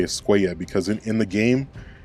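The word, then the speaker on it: Escuella: It's not Javier Skua, it's Javier Skua cuz these two L's make a Y sound.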